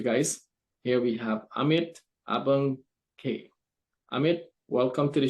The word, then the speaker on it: Ambegaonkar: thank you yes and my name is Amit ambe gankar and thank you for having me on this